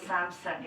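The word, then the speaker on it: Samson: ने दिया था hallelujah in English it will pronounce सैमसन एस आ एम एस ओ एन सैमसन सैमसन वास वन ऑफ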